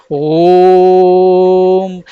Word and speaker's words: ओम: ओम लिखा है और जब हम ओम उच्चारण करते हैं तो हम इस उच्चारण को लंबा खींचते हैं हम बोलते हैं ओम इस तरीके से ओम का उच्चारण किया जाता है इसी प्रकार से